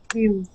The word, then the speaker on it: build: Build. Yeah, that's build. Build. Okay. Let's see. Who had said that? Jane. So Jane, that word. Instead of saying build. Okay, we use a short I sound.